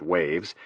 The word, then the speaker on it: WHAVS: WHAVS, pronounced waves, stood for White House Access Visitor System.